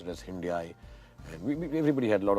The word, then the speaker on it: Hyundai: Hyundai, they told me, like Sunday. We obviously pronounced it as Hyundai.